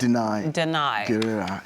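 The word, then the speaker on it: Danai Gurira: How do you pronounce it? Denai. Guerrera.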